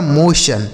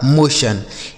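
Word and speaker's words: motion: उसी तरीके से एम ओ टी आई ओ एन। तो एम ओ से हो जाएगा दोस्तों मो और टी आई ओ एन से आपको क्या पढ़ देना है सन यह लिखा गया आपका मोशन ठीक है एम ओ टी आई ओ एन इसे पढ़ा जाएगा मोशन एल ओ टी आई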